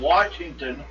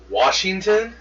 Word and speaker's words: Washington: teeth maybe that's it pronounce it with an R and anyone that I've known that has been born in the state or lived in this state all his life never did that but I keep hearing from other states oh yeah they pronounce the r who does Washington that's